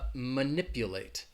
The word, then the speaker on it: manipulate: a verb to manipulate it has four syllables and the first syllable is gonna have that schwa sound that ma ma ma nip you late so can you hear where the stress is manipulate manipulate it's on that second syllable that ni P manipulate manipulate alright so